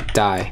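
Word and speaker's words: DAI: So this is the die ABI, it rhymes, die, right? Cool, now import, export const link ABI, link.ABI.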